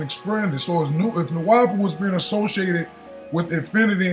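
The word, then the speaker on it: Nuwaubu: Nuwabu is pronounced Nuwabu, not Nuwabu.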